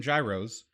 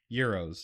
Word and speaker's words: gyros: I if you because I've always called them Gyros until about the last three or four years when I found out that they were actually pronounced Heros yeah so if you draw if you go